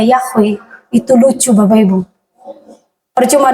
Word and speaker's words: Yahweh: Kalau mereka tidak tahu y itu bacanya Yahwe, itu lucu, Bapak, Ibu.